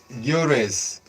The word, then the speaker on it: Gyökeres: The name is hard to pronounce. Yes, Gyo Gyökeres.